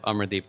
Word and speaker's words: Amardeep: Coalition, and so I'll pass it over to Amardeep to share further.